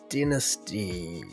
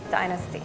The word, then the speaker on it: dynasty: i would pronounce it i think i would say dynasty in the usa we say dynasty in canada we say dynasty in scotland we'd say dynasty in uk dynasty yes in england